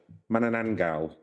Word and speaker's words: Manananggal: And it is and I've forgotten how to pronounce it already. Manananggal.